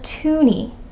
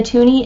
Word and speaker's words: toonie: is also called a toonie Canadiens call it this because of its value $2 and because it rhymes with loony the tooney is a gold color